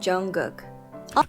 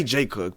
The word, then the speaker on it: Jungkook: And Jungkook. I just say J Cook, but you guys know who I'm talking about, Jungkook.